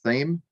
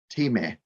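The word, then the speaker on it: Thieme: publishing company t-h-i-e-m-e which i always sort of just pronounced as theme but when i was in germany a few years ago they said it's like team they have a quite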